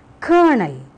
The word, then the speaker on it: colonel: They are pronounced exactly the same way, but they are so different in their spelling. Colonel.